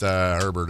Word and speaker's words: Herbert: Chargers quarterback Justin Herbert had surgery on his non-throwing hand this week and still plans to play on Monday night.